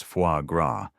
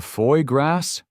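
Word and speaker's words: foie gras: She had spent the entire subway ride googling how to pronounce fuagra, only to forget it the second she opened the menu. I'll have the the foy grass," she tried, blushing as the waiter cracked a knowing smile.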